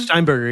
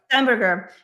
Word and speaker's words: Steinberger: So this week was very um Peter uh Peter uh Stan Steinber Steinberger is that how you pronounce his name? Steinberger. Yeah Steinberger.